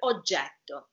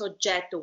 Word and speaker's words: oggetto: If you just pronounce oggetto with one T, you don't change the meaning of the word, but it's wrong. And it doesn't sound good. Beautiful. Exactly. So let's try it. Let's try it so you can hear it. Oggetto. We can pronounce the E longer and the T, double T.